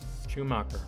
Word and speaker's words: Schumacher: I know it's shoe. All right, what is up? Hey guys. Ew. Schumacher.